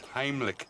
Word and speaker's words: Heimlich: It's Heimlich with an M. I did say Heimlich, didn't I? Oh, what a day. It's spelled with an M. You said it with an N.